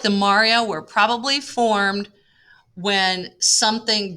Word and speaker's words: maria: I know it looks like Maria, but it is pronounced Maria.